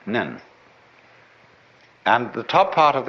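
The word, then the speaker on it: 念: They have a very interesting sign this it's pronounced nyun in Japanese nen and the top part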